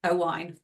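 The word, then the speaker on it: Owain: get his name wrong it's o wine isn't it oh wine yes as he explains it which is think oh wine as in drink oh wine yes so he's our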